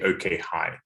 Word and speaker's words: OkHi: think to clarify uh we we pronounce uh the name of the company okay hi okay hi okay so